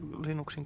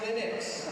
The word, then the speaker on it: Linux: Joo, ilman internettiä se Linuxin kehittäminen on ollut kirjesakkia.